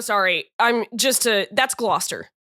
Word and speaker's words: Gloucester: Seems like there's there's there's a lot of letters in there that aren't pronounced that Yeah, I there's